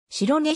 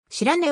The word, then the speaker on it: 白根: 白根市に関しての記述であり